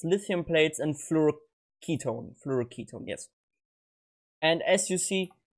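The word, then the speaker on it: fluoroketone: ailo now with its fluo Ketone as it's pronounced not ketone apparently it's like from acetone someone wrote a comment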